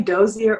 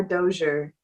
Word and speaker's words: Dozier: this entire time okay you can say dozier or dozier like i have people my family that say it both ways but you know i